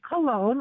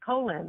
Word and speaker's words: Cologne: But I thank you because I cannot stand when people pronounce it colon. It's cologne, spelled like the perfume or the cologne. Yeah. But pronounced it's cologne.